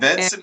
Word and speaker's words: Venson: And Venson, by the way, hold on.